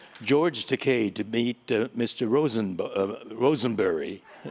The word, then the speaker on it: Takei: said yes um mr rottenberry i had the pronunciation right and you are george takai and i said well uh i had to